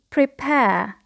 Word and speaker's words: prepare: So here the verb provide, we have the stress on the second syllable. The next verb is to prepare.